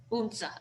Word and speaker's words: Odense: Odense. Unsa, okay.